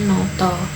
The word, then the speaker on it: nata: Contohnya nata dibacanya noto, lara dibacanya loro, dan mata itu dibacanya moto.